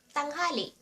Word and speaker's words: tanghali: And since it's 12 noon, you say, Alas dose ng tanghali. Noon or tanghali. Tang ha li Tanghali.